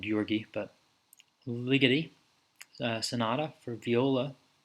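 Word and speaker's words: György: I think it's technically pronounced Georges. I always call him Georgi, but Ligeti, Sonata for Viola, from written in the 90s.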